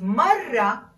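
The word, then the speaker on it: مرة: 16 women 17 times notice the difference between mara a woman with one r and mara one time with a double r you need to roll your r 16 women 17 times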